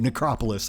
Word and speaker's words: Necropolis: Okay, that's how you say it, Necropolis.